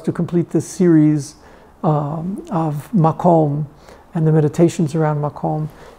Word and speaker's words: makom: How perfectly it's the beauty of the Hebrew language that makom actually does rhyme with shalom.